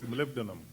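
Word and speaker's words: molybdenum: It took me quite a time to under to pronounce this malibdinum right if you can you say molly right the with 18 operating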